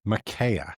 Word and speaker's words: Micaiah: Micaiah.